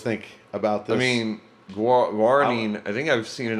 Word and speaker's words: guaranine: Guaranine.